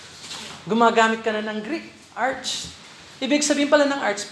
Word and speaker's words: arche: Arch. Arch. Art. Ang A-R-C-H-E, arche. Mukhang arche, pero ang pronunciation, arch.